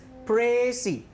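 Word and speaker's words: précis: If you literally find it in your dictionary, it would sound as Pressy. I repeat it, Pressy. It has an accent on the vowel E.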